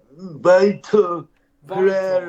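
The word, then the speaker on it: Vítor Pereira: Or, I don't know how you pronounce his name. Yeah, Vitor Pereira.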